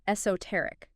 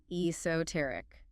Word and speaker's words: esoteric: Another interesting one, esoteric. E S O T E R I C. Esoteric four syllables stress on the third. Eoteric.